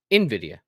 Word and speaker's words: Nvidia: Nvidia because I feel like you say Nvidia Nvidia it's Nvidia yeah I feel like you say